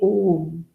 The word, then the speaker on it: Om: Though it is made up of A, U, and Ma, when we chant, we say Om. It is one single syllabled sound, Om.